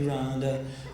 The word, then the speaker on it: Rhonda: And you didn't say it like Rhonda, like, help me, Rhonda. Rhonda was, Rhonda! She was the biggest turn-on of the first 14 years of my life.